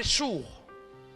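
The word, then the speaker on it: Schur: On appelle ça le désert de Chour. Chour, ça s'écrit S-C-H-U-R.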